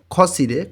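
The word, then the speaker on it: 거실에: খসিরে, রিউল বাচ্ছিমটা ইয়ংয়ের স্থানে গিয়ে উচ্চারণ হবে খসিরে।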